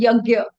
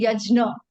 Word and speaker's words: yajna: now interestingly the way the word yagna is pronounced very differently in different places of bhad some people would say call it yagya some would say yajna somebody would say yagna right what is right